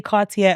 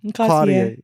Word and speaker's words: Cartier: Cartier. Is it Cartier? Cartier. I was gonna say Cartier. Well, you can say it like that. That's how the Americans say it.